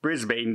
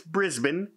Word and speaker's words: Brisbane: i said brisbane but if you look at the way it's spelt boy it sure looks like it should be said brisbane doesn't it if you don't know and i'm not from there so i didn't know but it's brisbane there i said it